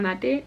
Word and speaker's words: mate: And then what looks like mate is mate.